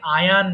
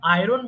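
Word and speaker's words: iron: ওই সাইডে যারা বসবাস করতেছে তারা কিন্তু এটাকে আয়ান বলে আয়ান আয়রন বলে না আয়ান আয়ান বললেও যে ভুল আয়রন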